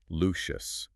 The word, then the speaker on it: Lucious: And just as a quick but very fun point of clarification from the sources, big boy is adamant that lucious is pronounced lucious. Not luscious like voluuptuous.